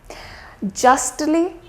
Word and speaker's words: justly: For example, we have the word lastly. So you'll say that I did pronounce the T here, lastly, justly and mostly.